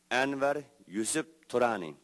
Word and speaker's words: Anwar Yusuf Turani: And so, my name is Anwar Yusuf Turani. It's pronounced in Uyghur language, Anwar Yusuf Turani.